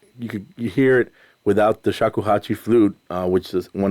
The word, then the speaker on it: shakuhachi: And the instrument you were using was shakuhachi. Thank you. Saku, I must pronounce it. Shakuhachi.